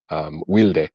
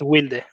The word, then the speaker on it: Wilde: It's really an English word. It should be wild, but it's in Right? Argentina it's wilde. Wilde.